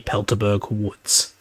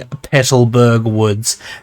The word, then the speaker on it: Petalburg Woods: For example, there's the Magma Grunt in the Pelterberg Woods. I mean Petalburg Woods.